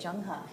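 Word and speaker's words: Zheng He: China lastly we have Jung ha doesn't look like it but that's how you say it junga junga was the commander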